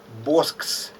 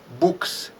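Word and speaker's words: Boeckx: introduction to the public lecture calls called him boss which is incorrect uh his surname should be pronounced books cedric books from belgium because this combination of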